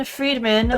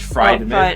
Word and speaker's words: Friedman: Solomon Freriedman was No, remember we we concluded Friedman. Oh, yeah. We're mispronouncing it.